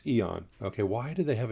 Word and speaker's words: E.ON: So it's E.ON.